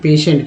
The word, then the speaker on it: patient: तो पेशेंट में दोस्तों अब बताइए, तो टी है, लेकिन दूसरा यहाँ जो से है, पे भी समझ में आ रहा है, पी से पे, लेकिन ये से के लिए कहाँ सा कोई स्पेलिंग आपको दिख रहा है क्या, वोवेल के कॉन्सोनेंट के अनुसार या वोवेल के अनुसार? नहीं दोस्तों, ये TI है, इसी का उच्चारण श के रूप में किया गया, जो कि आप यहाँ भी